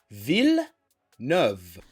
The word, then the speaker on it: Villeneuve: was editing this video, I was informed that that is not how you pronounce that man's name. Look at my mouth. Villeneuve.